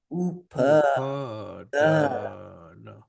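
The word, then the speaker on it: upādāna: Upadana. Say with me. Upadana.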